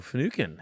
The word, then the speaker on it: Finucane: Finucane's the right way to say it.